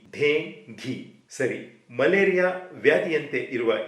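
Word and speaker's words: dengue: ಬಗ್ಗೆ ನಾವು ಸ್ವಲ್ಪ ತಿಳಿದುಕೊಳ್ಳೋಣ ಇಂಗ್ಲಿಷ್ನಲ್ಲಿ ಡಿ ಈ ಎನ್ ಜಿ ಯು ಡೆಂಗ್ಯು ಪದವನ್ನು ಇಲ್ಲಿರುವ ಅಕ್ಷರಗಳಲ್ಲಿ ಅನುಗುಣವಾಗಿ ಡೆಂಗ್ಯು ಅಂತ ನಾವು ಉಚ್ಚರಿಸುತ್ತೇವೆ ಆದರೆ ವೈದ್ಯಕೀಯ ವಿಜ್ಞಾನದಂತೆ ಈ ಪದದ ಸರಿಯಾದ ಉಚ್ಚಾರ ಡೆಂಗಿ ಡೇ ಘೀ ಸರಿ ಮಲೇರಿಯಾ ವ್ಯಾಧಿಯಂತೆ ಇರುವ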